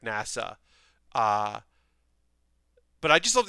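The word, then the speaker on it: 星空: like starry sky but his name is pronounced like nasa uh but i just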